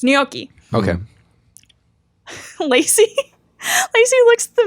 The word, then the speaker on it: gnocchi: So they're called gnocchi. Ah. It's spelled with a G and then an N. Like it's gnocchi.